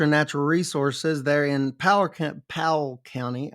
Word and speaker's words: Powell: He's a county extension agent for agriculture and natural resources there in Powell County. I need to say it correctly. Is that correct, Jason? That's where you're at. That But is correct.